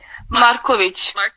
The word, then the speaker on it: Markovic: How do you say your last name? Markovic. Markovic. Okay.